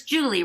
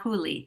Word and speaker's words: Julie: Is it pronounced Julie? It's Julie, right? Not Huli. It's Julie.